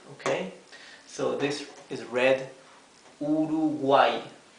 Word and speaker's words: Uruguay: end of a word okay so this is pronounced simply e like the I El Latina okay so this is read urugay urugay right okay so these are examples so you